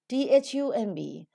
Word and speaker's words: thumb: the nasal sound and we don't pronounce the plosive sound so it is not